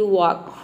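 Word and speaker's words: walk: रहता है जैसे कि वॉक वॉक में देखिए एल के बाद के आ रहा है यहां पे के को हम क प्रोनाउंस एल को ल प्रोनाउंस करते हैं लेकिन ल का साउंड नहीं है वक मतलब होता है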